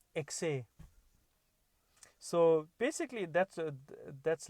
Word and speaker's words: ekse: Sometimes it's spelled EKSE, exe, or some people spell it as EXE. Whichever way, the pronunciation is the same.